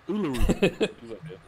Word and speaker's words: Uluru: It's a Uluru.